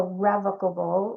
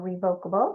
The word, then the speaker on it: revocable: And the way we avoid probate is through adding a revocable or revocable depending on how you say it, but meaning changeable or amendable trust to your plan that takes the place of your will.